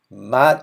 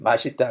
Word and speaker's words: 맛: of the fourth word, 맛 is delicious. So if you say the long thing, if you say BTS는 맛있다, means BTS is delicious. So you need to be very careful in pronunciation on this.